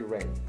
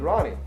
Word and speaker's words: Rahne: now the thing is he pronounced it wrong that her name is actually rain rain but but what I thought but I heard it you know cuz you dirty mispronounce it is Ronnie so I thought that